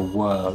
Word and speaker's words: whorl: And the third feature to look for is a spiral or a whorl, it's spelt WHORL.